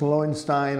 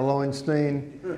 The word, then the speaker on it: Lowenstein: I'm happy to be with you today, and I'm not upset if it's pronounced Lowenstein or Lowenstein. My father and his brother were partners in business for 40 years in Danville, Virginia, and one called himself Lowenstein and the other one called himself Lowenstein.